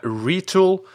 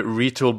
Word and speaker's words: Retül: First, we have Retül.